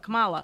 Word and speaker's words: Kamala: i don't know why i always say her name on camelot kamala i don't say wrong